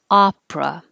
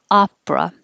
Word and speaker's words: opera: go this one 30 it also starts with an o but it's pronounced ah opera and forget the middle e just push it out opera and this can be